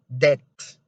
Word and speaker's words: debt: say doubt doubt and the other one is debt debt so you don't have to say debt